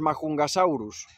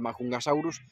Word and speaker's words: Majungasaurus: los majungasaurus que sí yo antes lo pronunciaba como majungasaurus en inglés He visto que en la serie lo pronuncian como majungasaurus y bueno lo puedo dejar así que me es más fácil de decir pues los majungasaurus han